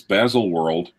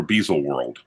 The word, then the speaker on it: Baselworld: Rolex has done its Baselworld is it as a warrant or bezel world I like bezel War II the world yes you